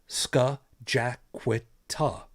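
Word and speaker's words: Scajaquada: The same way over here in Buffalo, there is a highway that it's spelled it's an indigenous name. It's Skajaquita.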